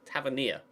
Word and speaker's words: Tavernier: Tavernier. That's how you pronounce it.